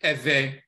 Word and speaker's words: Ewe: You have the Ewe people in Togo and Benin and so forth, and Ghana. Some of them pronounce it Ewe with the V.